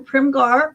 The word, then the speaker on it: Primghar: So I was in Primgar, Primghar. Got to tell that story because there's a silent H in there.